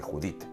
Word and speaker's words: Judit: un cierto carácter anglosajón judith no es judith como jonás jonás como job es job